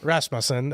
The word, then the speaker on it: Rasmussen: Rasmusen. Rasmussen.